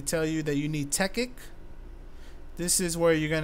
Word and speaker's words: Tekkit: server a techic server which is spelled differently it might sound like technique but it's called techic now what this is